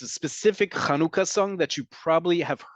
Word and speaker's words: Hanukkah: assimilate us into Oblivion it's important that we talk about pronunciation folks this holiday is kanuka I don't care how